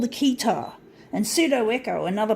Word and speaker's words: keytar: keytar he-ey ta our keytar rhymes with guitar but it's keytar it's basically a keyboard